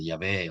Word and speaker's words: Yahweh: four letters IHVH, Yod-Hé-Vav-Hé which, then, we can pronounce it variously, Yahweh or Jehovah.